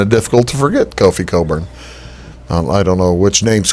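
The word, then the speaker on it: Cockburn: It's Kofi Coburn. We're all junior high boys. We're all going to mispronounce that one.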